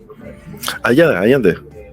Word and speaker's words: Allende: Allende.